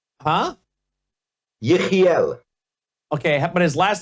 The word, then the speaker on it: Yechiel: Yechiel. Huh? Yechiel.